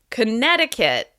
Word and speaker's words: Connecticut: Connecticut. Connecticut. As you can hear, Connecticut is stressed on the second syllable. Connecticut.